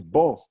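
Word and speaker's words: בו: For example, this word is bo. It means the bet is a preposition meaning in. So bo is in him or in it.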